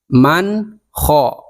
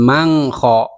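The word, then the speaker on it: مَنْ خَفَّتْ: Man kho, nun sukun bertemu dengan kho, maka dibacanya jelas, jangan mang kho.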